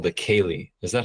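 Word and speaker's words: cèilidh: this Scottish uh type of event called the Kaye is that how you say it yeah Kaye it's interesting because it's word as well that's pronounced the same way it means like playful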